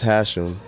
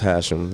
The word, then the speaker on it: Hashim: an Arabic name but it always gets butchered people call me Hashim has him you know what I mean but it's just hash him you know what I